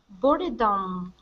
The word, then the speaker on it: boredom: Boredom. A state in which you are bored. B. Okay. Good. Now this word here is pronounced boredom. Boredom. Okay. So this E we wouldn't pronounce.